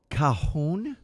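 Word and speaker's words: cajón: It's called kahon.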